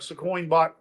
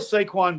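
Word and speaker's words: Saquon: Herz is capable playing we know what squ squin squin Barkley is gonna do why can't say his name right we know what saquin Barkley he's gonna have a good game okay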